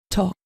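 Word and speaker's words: talk: a la forma verbal tok continuamos con la forma verbal del verbo tú te puedes notar que al pronunciarlo no hacemos referencia a la l queda tok aquí esta forma verbal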